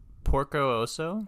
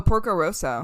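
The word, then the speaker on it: Porco Rosso: get the name wrong is it Porco ooso oh Porco Roso Roso yeah that one's really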